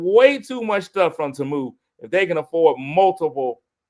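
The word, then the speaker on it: Temu: Black people been calling it T-Moo forever. We've been T-Mooing forever. Now we finally know how to actually say Tamu.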